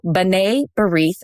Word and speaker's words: B'nai B'rith: B'nai B'rith. That's how you say it. Sorry, it's not spelled that way. So B'nai B'rith is how you say it.